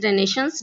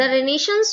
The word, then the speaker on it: Renaissance: हमारा पहला क्वेश्चन है, what is रेनेशंस, discuss its significance. तो हम देखेंगे अपने आंसर को। द रेनेशंस वॉज, इसे हम रेनेशा रेनेशंस दोनों बोल सकते हैं, जो प्रोनाउंसिएशन आप करना चाहें, बस स्पेलिंग आपको याद रखनी है इसकी।